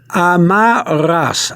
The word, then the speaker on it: amarras: You have to thrill the back of your throat for the double R. Amarras.